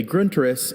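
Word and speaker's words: Grundriss: Gruntus. Could I have the definition? A gruntus is a comprehensive and systematic outline especially of a science.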